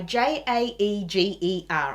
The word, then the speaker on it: Jaeger: lined it's made by j a e g e r pronounced jaeger oh and let's